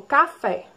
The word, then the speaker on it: café: Próximo exemplo, café. Qual é a sílaba mais forte? Café. É o fé.